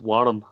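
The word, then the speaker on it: Wyrm: Because they're Scottish, so it's supposed to be pronounced Warm. Well, it's W-Y-R-M?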